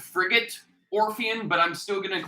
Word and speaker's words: Frigate Orpheon: big blue norfair i i realize it's called frigate orpheon but i'm still going to call it brigade um i always pronounce it for gate yeah but yeah um